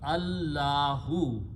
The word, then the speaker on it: Allah: you write these together this Al if is not pronounced and Al removes One D so this becomes Allah and that's the word